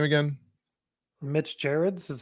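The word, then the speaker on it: Gerads: you say the artist's last name again Mitch Jareds is how Jareds Jareds his art in this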